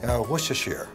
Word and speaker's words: Worcestershire: how to say say it again for me worcestershire worcestershire sauce okay we've we also talked about